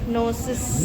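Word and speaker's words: gnosis: नोसिस। नोसिस। है ना? जी एन ओ एस एस आई एस उसमें जी साइलेंट है नोसिस ठीक है ध्यान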